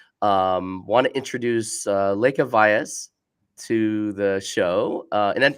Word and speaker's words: Lekha Vyas: the industry so um want to introduce uh Lea Vias to the show uh and did I pronounce that correctly you actually got it right